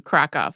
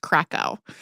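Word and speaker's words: Kraków: a central point to krov which I think a lot of English speakers may have also heard pronounced kov it sits at 228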